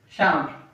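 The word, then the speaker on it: chambre: We use it in sham.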